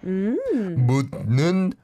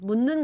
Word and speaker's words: 묻는: And actually, 묻는, you don't need to pronounce the 디귿. It just mixes with N. I mean, 니은. So it just becomes 묻는 건데요.